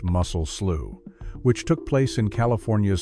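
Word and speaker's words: Mussel Slough: This is the story of the muscle slow tragedy, pronounced muscle slew, which took place in California's Sanwaqin Valley in May of 1,880.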